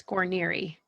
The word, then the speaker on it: Guarniere: last name before I butcher it totally it's coronary coronary nice well amanda is a mom a